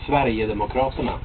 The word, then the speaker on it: Sverigedemokraterna: Sverigedemokraterna. Uh-huh. Sverigedemokraterna.